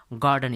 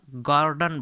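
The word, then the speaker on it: garden: ठीक है, अब यहाँ देखिए इसका जो प्रोनाउंसिएशन होगा गार्डन, ब्रिटिश इंग्लिश में इसे हम गार्डन, इसमें आर साइलेंट होगा। ठीक है, तो इसे हम गार्डन बोलेंगे।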